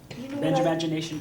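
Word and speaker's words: Benjamagination: the word imagination right think of the first part of the name Benjamin Benja yeah and the last part of the word imagination imagination so Benja imagination well what don't we have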